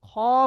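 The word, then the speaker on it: خ: হা করলে, এই হা বলার সময় মুখটা একটু হা হয়ে যাচ্ছে, কিন্তু খ বলার সময় যেন মুখটা একটু গোল করে পড়তে হবে।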